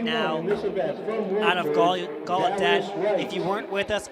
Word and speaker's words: Gallaudet: Gallaudet, excuse me. Again, the right pronunciation here. Gallaudet. When he set the D3